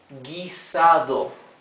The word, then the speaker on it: guisado: So I haven't found an example for ge, but we have for the GUI we have the word guisado.